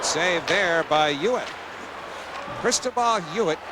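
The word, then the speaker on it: Huet: there by us cristobal hewitt pronounced h-u-e-t but you throw off that first h silent h trip breaks a stick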